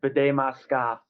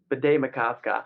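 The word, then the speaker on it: Bde Maka Ska: Bidet Masca.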